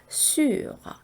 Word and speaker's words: sur: 그리고 뒤에 에흐 발음을 살짝 곁들이면 sur 이렇게 발음을 하시는 거죠. 에흐 발음도 전에 제가 설명드렸는데요. 목구멍에서 가글 할 때 나오는 소리라 그랬죠. 그래서 하는 발음입니다. 그래서 sur 네, 이렇게 발음하시면 되고요.